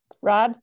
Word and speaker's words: Raad: this uh and how do you say your last name rod yep okay perfect i'd like